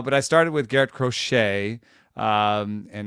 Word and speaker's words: Crochet: K or or or with more more of a TCH sort of a sound there in the middle I'm just thinking the